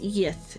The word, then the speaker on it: Yith: It's pronounced Yith in phonetic script.